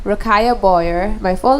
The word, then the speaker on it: Ruqayyah: y a h b o y e r rakaya boyer my full name b o y e